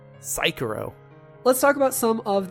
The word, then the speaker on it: Sekiro: Nobody pronounced that name correctly. Sekiro.